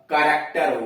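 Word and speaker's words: character: यानी देख रहे हैं कि नियम तो यह है कि उस शब्द के शुरू में सी एच आए, उसके बाद कोई स्वर आए तो उसका उच्चारण च होता है। लेकिन ये अपवाद हो गए, कमेलियन हुआ, के आस हुआ, कैरेक्टर हुआ, कारिज्मेटिक हुआ और करिश्मा हुआ, केमिस्ट हुआ, ये सब उसके अपवाद हैं।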